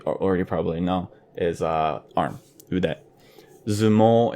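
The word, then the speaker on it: 腕相撲: The first one I want to talk about is udezumo. And it's made up of 2 main words. Ude, which you might already probably know is arm. Ude. Zumo is the rendaku version of sumo, so for sumo wrestling.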